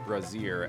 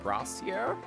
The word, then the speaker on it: brazier: DM pronounced brazier as brassiere.